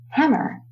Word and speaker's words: hammer: We say hammer. So the emphasis is more towards the first syllable, hammer.